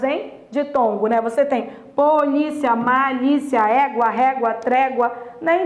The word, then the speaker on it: polícia: A pronúncia dessa palavra é essa, é polícia. É polícia. Essa palavra, ela é uma paroxítona, tudo bem? Ela é uma paroxítona terminada em ditongo.